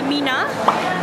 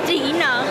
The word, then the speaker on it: 3INA: So sekarang dah on the way ke Mina. Dia ejaan dia E, bukan E, 3-I-N-A. Tapi sebutan ni bukan Trina, actually Mina.